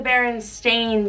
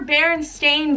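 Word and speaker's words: Berenstain: Like, no, mommy, A-I-N is pronounced ain, stain, not een, like E-I-N. Like, it's just crazy to me. It's crazy to me. If it was ever Berenstein Bears, it should have been that the whole time.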